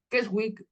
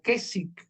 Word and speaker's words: Keswick: las conferencias de questwood keswick o que si la pronunciación es que sí porque no la W ahí no se no se pronuncia Qué es o kesi cómo le llaman en